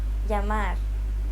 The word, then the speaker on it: llamar: Double L's are not pronounced the same as the English L sound. Many Spanish learners tend to pronounce it as such or try to extend the sound to compensate. However, the actual sound is quite different. Listen to it again. Y. Yeah. It sounds like a combination of an L and a Y sound.